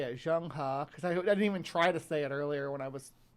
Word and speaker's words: Zheng He: to myself to remember how to say it, Zheng He, because I didn't even try to say it